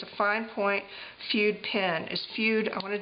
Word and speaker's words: Fude: It's called the Sailor, F-U-D-E. I say this all the time in pens. I pronounce it Fude because it's F-U-D-E.